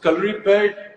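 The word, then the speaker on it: Kalaripayattu: so calorie pad, Hrithik, I'm so proud of the fact that you said the name correctly.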